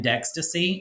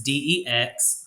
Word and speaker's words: Dextaci: You can also type in Dextaci, and it's not spelled like ecstasy with a D, but it's Dextaci. Dextaci.